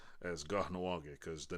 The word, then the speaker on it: Kahnawake: as Kahnawake because the name of my channel is where I'm from. Kahnawake is it's actually pronounced Kahnawake because Kahnawake, that little H, Kahnawake, is actually means by the swamp.